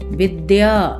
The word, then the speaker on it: विद्या: यह बोलना गलत है ऐसे ही विद्या को हम विधा पढ़ते हैं यह कि अशुद्ध है इनका शुद्ध उच्चारण होगा पुत्र कक्षा विद्या इस तरह से कुछ